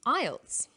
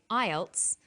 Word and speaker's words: IELTS: is called an acronym with an acronym we don't pronounce the individual letters we pronounce it as a word so we say ielts not i e l